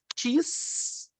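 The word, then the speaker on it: τίς: Tis, ti. Muito básico. Ó, tis, quem? Lembra de cheesecake? Cheesecake, tá todo mundo com fome. Cheesecake, tis. Lembra um pouquinho de cheesecake, né?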